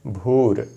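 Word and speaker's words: भूर्: अगला शब्द है भूर। वैसे तो बिना संधि के भू है। संधि के नियमों से यह भूर हो गया है। यहां सरलता के लिए हम भूर का ही उच्चारण करेंगे।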